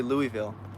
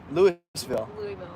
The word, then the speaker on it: Louisville: louisville dude you know they say louisville louisville that's how they pronounce it yeah everyone from from there says louisville really right lewisville louisville am i right